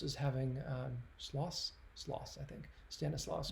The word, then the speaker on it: Stanislaus: Stanislaus. Correct my pronunciation in the comments if you know it.